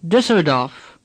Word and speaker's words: Düsseldorf: Now Düsseldorf. Say Düsseldorf. The letter U with two dots over it is pronounced Ü. Düs.